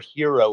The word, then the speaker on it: Hiro: teen hero which is spelled h o but pronounced hero a genetically augmented human who is bouncing around